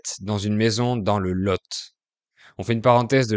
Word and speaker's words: Lot: L'un de ces départements s'appelle le Lot. Ça s'écrit L-O-T et dans ce cas, le T final se prononce. Alors qu'avec le nom commun le Lot, L-O-T, qui veut dire